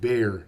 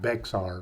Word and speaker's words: Bexar: county or bear whatever it is pronounced bear not Bexar the second word that